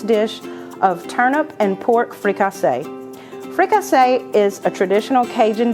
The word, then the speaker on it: fricassee: A lot of people pronounce it fricassee, but like I said, in Louisiana, we say fricassee. It's French.